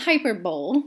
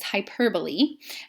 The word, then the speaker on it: hyperbole: implied comparison is hyperbole it's not hyperbole which is the way that some people pronounce that the right word is hyperbole and that is an